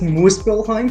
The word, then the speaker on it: Muspelheim: It's pronounced Muspelheim.